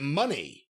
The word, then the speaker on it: Moné: And actually, she pronounces it money, if you noticed when she was talking.